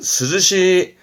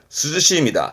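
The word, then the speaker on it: 涼しい: 발음은 스즈시. 그렇죠. 서늘한, 스즈시입니다.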